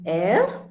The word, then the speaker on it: Be: R is air. Okay, so R is one word which literally should be heard, like very vividly, like air.